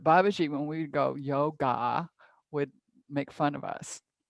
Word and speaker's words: yoga: babaji you drop the it's not yoga it's yog there's a short a at the end it's not a long a it doesn't have a long a like asana doesn't have a long a at the end it's awesome and there's a little at the end but you kind of don't hear it very much if that makes